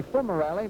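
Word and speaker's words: Fumerelli: corner of the way some question about the pronunciation of fumarelli purists might say it should be full morality but we talked to rocky about it and he prefers fumarelli all right uh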